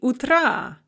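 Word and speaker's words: утра: is going to be utra note the stress shift utra has the stress on the first syllable but we put it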